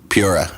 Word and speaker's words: Pura: anything that that's it except it's Pura Pura there you go sorry no it's totally fine man so dude people got my name wrong it it reads as pure so it's just like uh uh everyone but then immediately everyone like thinks it's Spanish or something like that so they go and then all my